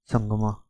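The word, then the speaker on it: Sangma: सीएम of Meghalaya कोन रत संगमा ठीक है प्रोनाउंस नहीं हुआ संगमा एस ए एन जी एम ए ठीक है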